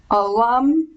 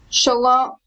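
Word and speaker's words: שלום: Nancy line 10 please sh um Alum no shalom shalom yeah yeah um oh um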